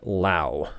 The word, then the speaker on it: Lowe: So it's Brandon Lau. Brandon Lau. I love that says rhymes with now.